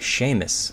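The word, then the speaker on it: Seamus: think uh this guy his name is pronounced Sheamus I think I think that's pronounced as Sheamus that's that's the name Sheamus Heaney Nobel Prize winner for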